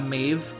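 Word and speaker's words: Medb: frantic we got we got drink we got Maeve that's how you pronounce her name we've got Quetzalcoatl we got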